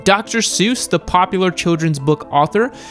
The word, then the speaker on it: Seuss: Seuss the popular children's book author his name was actually supposed to be pronounced as sois which rhymes with voice that is so weird